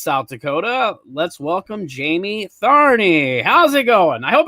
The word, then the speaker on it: Tharney: from sioux falls south dakota let's welcome jamie tharney how's it going i hope i said that right did i say that right did i say that right is it that's how it's pronounced right tharny barney yeah ah sweet good job good job